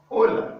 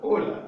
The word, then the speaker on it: hola: going to be hey so the h in spanish is a silent letter though it appears on words but it's silenced inside it you don't pronounce it all right you have hola hola which is the eighth